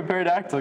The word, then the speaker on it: pterodactyl: Why can't you hear a pterodactyl go to the bathroom? I don't know. Why? Because the pee is silent.